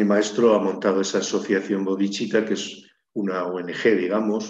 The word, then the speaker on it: Bodhicitta: proyecto de mi maestro, que es la Asociación Bodhicitta. La asociación Bodhicitta es una palabra sánscrita que se escribe B-O-D-I-C-I-T-T-A.